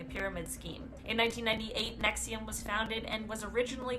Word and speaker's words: NXIVM: And front for disgusting crimes, NXIVM, which I believe is pronounced Nexium.